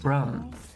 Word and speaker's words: Brum: want to play it it's pronounced Brum it rhymes with drum Dum I mean drum